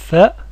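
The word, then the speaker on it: ث: Par contre, la lettre tha, comme dans thawb, n'existe pas en français.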